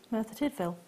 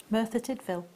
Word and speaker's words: Merthyr Tydfil: can't even pronounce that where's that mirtha did Phil sorry Merthyr Tydfil there we are was it yeah yeah